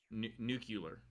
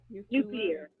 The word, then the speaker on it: nuclear: but how do you how do people mispronounce that one nucular nuclear no clear no clear Bush George Bush used to say new killer new killer nuclear nuclear that was he just